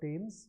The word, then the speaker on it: Thames: So to set the Thames on fire, okay, this is a river in London, it's called Thames, although it is spelled with a TH.